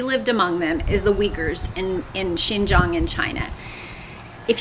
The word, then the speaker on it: Uyghur: If you look into them, it's pronounced Uyghur or Uyghur, is how they say it. But that's why it's called Uyghur and not Uyghur or Uyghur or something else. It's Uyghur.